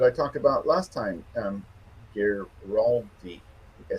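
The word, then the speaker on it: Girardi: The the attorney in California that I talked about last time, Giraldi, I said it right this time, right?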